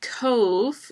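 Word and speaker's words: Cobh: uh Cove um and Cove is uh spelled c o BH but it's pronounced like like Cove cve e um it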